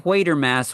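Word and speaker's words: Quatermass: movie monsters and this quer Mass would always be in there huh um I always read it as quarter Mass but in this movie they actually pronounce it as quer mass so it's a 1955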